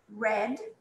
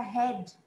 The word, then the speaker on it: red: Red. Olha esse R, não é head, tá? A gente leria head, mas é red. Red, tá?